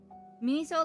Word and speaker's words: Miniso: Miniso like miso, but mini.